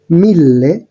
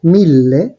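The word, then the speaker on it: mille: এবার ১০০০ এর ক্ষেত্রে উচ্চারণটা হচ্ছে মিল্লে। আমি আবারও উচ্চারণ করছি, মিল্লে।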